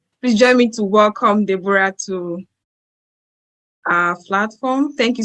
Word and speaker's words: Deborah: I don't know if people say Deborah, but the right pronunciation of my name is Deborah. The O is silent.